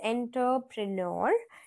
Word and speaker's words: entrepreneur: right so I again this word is from French language so enterpreneur the pronunciation is enterpreneur right so it is not entry or it's not enter ENT enterpreneur okay and the person